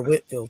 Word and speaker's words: Whitefield: George Whitefield or Whitfield, excuse me. It's spelled Whitefield, but it's pronounced Whitfield.